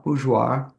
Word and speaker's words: Bourgeois: And toward that end, it's my pleasure to introduce La Bourgeois, and I have it correct. Is that pronunciation correct?